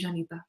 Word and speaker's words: Llanita: I'd always say I'm proud to be Janita. On National Day, I write Janita down my arm. Perfect. How do you spell it?